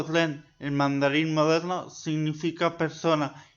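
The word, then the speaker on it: 人: El primer carácter pronunciado ren en mandarín moderno significa persona y procede del dibujo de un perfil humano.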